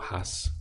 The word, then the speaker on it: hojas: the next we have leaves would be lass or HUS with a silent H like that yeah taka a loss